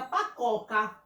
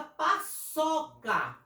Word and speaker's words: paçoca: A cedilha, ela vai servir, porque se eu não colocar a cedilha aqui, fica pacoca. Quando eu coloco, fica paçoca.